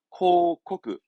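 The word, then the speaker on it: 広告: 발음은 코코크, 코코크. 그러니까 대부분 고자들이 코어로 가니까 코하지 마요. 이 한자는 꼭 잊지 마시기 바랍니다.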